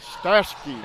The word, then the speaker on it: Stashke: Stashke is your correct pronunciation.